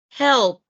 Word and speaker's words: helped: No se pronuncia la E, se omite el sonido de la E y se pronuncia esa D final como una T. Escucha. Helped.